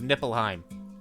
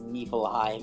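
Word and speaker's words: Niflheim: forget the true pronunciation never forget the true pronunciation of nippleheim oh yeah nippleheim yes i think the only reason people say it as niefelheim is because they ca because kids and nipple still a cool name for an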